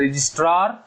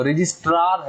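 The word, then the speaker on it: Registrar: आरओसी मतलब रजिस्ट्रार, रजिस्टर नहीं है, समझो, रजिस्ट्रार है। प्रोनाउंसिएशन जो है ना ऊपर वाले जबरे में ना जो आर है ना वो लगाओ, रजिस्ट्रार, ओके।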